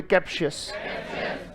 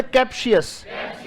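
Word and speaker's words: captious: पहले रुको रुको रुको, कैप कैसे पढ़ोगे? शी कैसे पढ़ोगे? अच्छा, इसमें शीयस पूरा ये शीयस ही है। बोले कैप्शियस। इसमें शीयस को देखो कैसे लिखा गया, TIOUS, और ये TS नहीं है, ये क्या है?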